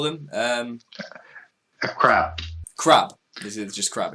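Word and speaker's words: עקרב: Yeah, a crab. So and typically Q is pronounced K in those aspects, as opposed to how we pronounce Q.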